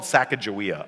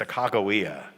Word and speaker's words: Sacagawea: So it's probably a hard G or a K. It's Sacagawea.